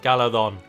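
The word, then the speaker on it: Galadhon: out to me that I was pronouncing pronouncing the th sound incorrectly and it's very silent it isn't hard like the it's silent like gala thon almost implied really anyway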